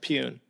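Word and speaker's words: Pyun: you say his name it's pronounced peun you just you know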